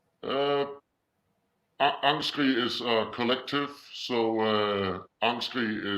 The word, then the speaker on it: Angstskrig: It's Angstskrig in Danish, but yeah, Angstskrig is cool. Okay. So, and then is the band name actually your name, or do you have a name? Uh, Angstskrig is a collective, so Angstskrig is both our names.